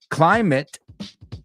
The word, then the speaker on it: climate: As I just said, climate rhymes with graduate. Climate, graduate.